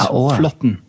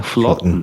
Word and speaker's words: Flaatten: Yeah, so the double A is Norwegian syllable Å. So it's Flaatten. Yeah, Flaatten.